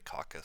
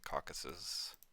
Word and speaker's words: Caucasus: Some people say caucus, some people say caucasus.